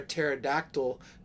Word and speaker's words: pterodactyl: can't you hear a pterodactyl go to the bathroom question mark oh Cy I think go ahead uh we're just GNA wait because the p is silent ew that's a good